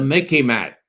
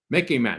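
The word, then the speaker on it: MICIMATT: Instead of the MIC, instead of the military industrial complex, we have what I call the Mickey Mat. Okay. You can remember it. It sort of rhymes with Mickey Mouse, but it's much more serious.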